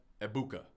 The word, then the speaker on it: Egbuka: We've got Amecha Ibuka. G is silent, all right?